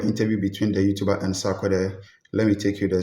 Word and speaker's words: Sarkodie: Let me say his name right, Sarkodie. Sarkodie, yes.